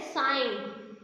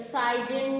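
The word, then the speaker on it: sign: साइन में देखिए जी जो है ग साउंड है that is द साइलेंट letter, ये साइलेंट लेटर है। और नेक्स्ट वन है डिज़ाइन। डिज़ाइन में भी ग साउंड जो है वो क्या है हमारी साइलेंट है। यहाँ पे कभी आपने साइन को साइजन या कुछ ऐसे पढ़ा नहीं पढ़ा ना, साइन का ज साउंड जो होती है वो क्या होती है, साइलेंट होती है।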